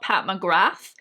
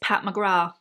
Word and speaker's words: Pat McGrath: time so it's not pat mcgrath apparently the th is silent it's pat mcgrath who knew anyway so